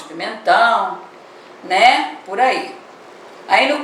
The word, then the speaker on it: pimentão: E a palavra pimentão, chame a palavra pimentão, você vai ver que ela tem o tio, né, na última sílaba, e ela é uma palavra o quê? Oxítona.